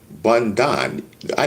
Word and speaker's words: Bondi: Bond. I know that.